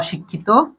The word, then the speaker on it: অশিক্ষিত: এরপর অশিক্ষিত, অ শিখ খি তো।